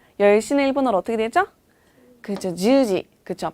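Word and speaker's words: じゅうじ: 그죠, 주지. 그쵸, 발음 주의하셔야 돼요. 주지가 아니라 주지, 장음으로 발음해 주셔야 돼요.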